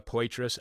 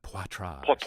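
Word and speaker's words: Poitras: at The Intercept Laura pitrus am I pronouncing her last name correctly yes all right uh I thought it was going to be French like Patra you could call her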